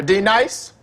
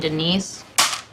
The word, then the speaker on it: Denise: at school be nice is there a d nice now D nice do you mean Denise you say your name right right now Denise say it right Denise Reckless Denise right Denise right be nice that's better thank you or even your